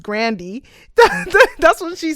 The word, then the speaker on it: Grande: So I don't know if any of us are pronouncing his name correctly, because when we found out Ariana Grande's surname is actually supposed to be pronounced Grandy, that's what she said.